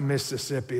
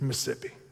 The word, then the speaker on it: Mississippi: you where I'm from you omit syllables it's not Mississippi it's Mississippi right y'all got it and